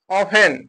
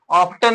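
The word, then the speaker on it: often: पढ़ेंगे इसको ऑफेन पढ़ेंगे ओ एफ टी ई एन लिखा है लेकिन इसको पढ़ेंगे ऑफेन पढ़ेंगे ओ एफ ए एन ऑफ एन ऑफ मने अक्सर यहां पर टी साइलेंट है इसमें ऑफ्टन नहीं पढ़ेंगे क्या पढ़ेंगे ऑफेन पढ़ेंगे यहां पर देखिए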